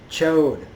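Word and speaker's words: Ch'od: of I also Corsair says chode so if you watched it you might the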